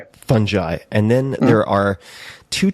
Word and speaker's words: fungi: Um fungi according to Oxford English dictionary with a j is the correct pronunciation but funi fungi or fungi.